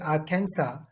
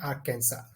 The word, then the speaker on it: Arkansas: Illinois as well as Arkansas s is silent in Arkansas so I have mentioned